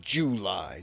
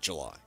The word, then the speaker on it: July: And you got to say July Saturday night, not July.